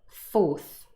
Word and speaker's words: fourth: Usually the th changes to s as well.